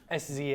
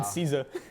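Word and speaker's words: SZA: her music with Kendrick I knew the name pronounced it wrong knew the name s Za but like yeah I said cesa cesa I said CA pulling up I said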